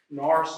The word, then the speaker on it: Nourse: Norris is spelled Nourse.